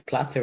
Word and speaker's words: Plato: yeah but if it's platter in Greek then that's then that's right surely I mean there's no right or wrong right it's just how it's pronounced in Greek versus English but okay Plato yeah